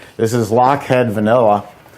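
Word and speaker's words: Lochhead: she's right this is lockhead vanilla it's a company that specializes in vanilla and specializes in also in vanilla for ice cream it's spelled l-o-c-h-h-e-a-d lockhead and this is a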